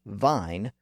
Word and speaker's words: vine: its original sound intact that's also why v n is pronounced Vine but r a v i n e is pronounced Ravine Vine is an older word that went through the vow shift but Ravine is a newer word that was borrowed at after the shift Ravine is first recorded